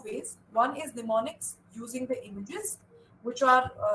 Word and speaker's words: mnemonics: Mnemonics, it's with an M is silent, it's called mnemonic, and too many of them are called mnemonics.